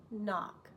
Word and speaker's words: knock: then drops no vibration C sometimes it's silent I know the kitchen is dark please knock kitchen dark silent silent I read it